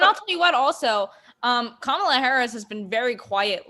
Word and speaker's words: Kamala: on our Monday huddle complaining because Sonia Sotomayor pronounced Kamala's name wrong. Oh, I didn't even hear I that. said Kamala during the inauguration. Why did they think her name was Camilla?